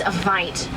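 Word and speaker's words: wyd: Now that word is vite. Vite in Afrikaans, meaning a wide, not white rhino, referring to those broad square-shaped mouths they do have.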